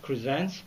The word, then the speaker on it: Krzentz: It's pronounced Krzentz.